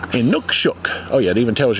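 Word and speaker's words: inukshuk: In Nookshook.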